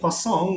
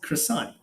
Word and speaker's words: croissant: we use it okay quasang we just change how it's being uh being pronounced croissant anybody you guys have